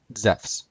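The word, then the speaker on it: Ζεύς: And Zeus would be pronounced Zephs.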